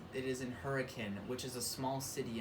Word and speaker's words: Hurricane: when i say hurricane i mean this town hurricane here locally it is not pronounced hurricane it's pronounced hurricane so that's like a local